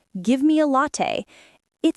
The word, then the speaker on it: latte: Better to say, could I get a latte, please? Yeah, that one's softer. English speakers like using polite forms. It makes the conversation smoother. And don't forget pronunciation. Many students say latte, but it's actually latte.